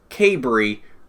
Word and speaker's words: Cabre: hard for me to to say que Bree which if I remember correctly is the correct pronunciation I asked him the